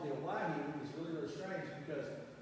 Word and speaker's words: Owyhee: But they didn't know how to say Hawaii or how to spell it, so they spelled it O-W-Y-H-E-E, Owyhee.